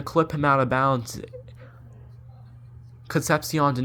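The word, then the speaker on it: Concepcion: for State Casey concepion was the guy's name concepion that's how you say it it's a great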